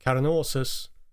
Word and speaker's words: Carnosus: podcast in general, so the more English sounding pronunciation makes sense to me. So that's what I will use throughout this episode, but I guess some pronunciation more like Carnosus, probably a little bit closer to the Latin pronunciation.